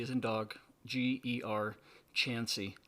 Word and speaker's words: Chancey: You can find him at Rodger, and that's spelled R-O-D, D as in dog, G-E-R, Chancey, like chance with a Y.